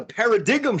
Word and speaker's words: paradigm: excited I want a paradigm shift yeah yeah there's a g in there the g is silent all right so I